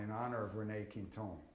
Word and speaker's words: Quinton: I say Quintone in honor of René Quintone, because in France that's how it's pronounced.